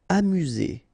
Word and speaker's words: amusé: Amusé, okay, accent aigu at the end, so E, Z, amusé.